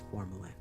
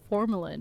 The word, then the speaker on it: formalin: Oh, that's how you say it. Formalin. I was struggling so hard cuz I was like, "What the is that? What is formulin?